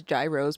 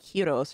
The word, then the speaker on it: gyros: email oh my gosh i know some people pronounce them as gyros but i guess they're like heroes right oh heroes are